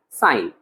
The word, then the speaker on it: sin: has a shorter form written in the sums as s i n but we will pronounce as sine now cosine has a